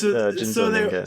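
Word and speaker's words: 人造人間: But I guess it's pronounced Jinzoningen. Yeah, it's Jinzoningen.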